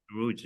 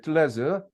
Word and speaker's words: 들뢰즈: 들루즈 같은 경우, 드루즈, 우리 미국식 발음 드루즈로 얘기를 하죠. 들루즈, 예, 들루즈인데 뭐 들레즈라고 할게요. 예, 들레즈 이제 원어에 가까.